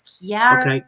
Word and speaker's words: Chiara: they pronounce my name, they think of the CH as a ch sound. But okay. I am from an Italian background, so it's a K sound. It's Chiara. Chiara.